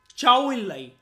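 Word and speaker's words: Zhou Enlai: वो था चाउ इन लाई। ZH को चाइना में बोला जाएगा चाउ, चाउ इन लाई, ठीक है, ऐसे प्रोनाउंस करा जाता है इसको, चाउ इन लाई।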